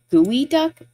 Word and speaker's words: geoduck: The pronunciation makes it seem like it's a gooey duck.